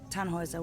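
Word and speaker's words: Tannhäuser: why what's your name tanhauser we'd pronounce it tan hoiser with an umlaut german roots yes my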